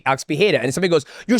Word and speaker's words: Pereira: He goes, "Pea, that's how you say it in the Portuguese way." And I'm like, "Alex Bea." So, I'll always say Alex Peda.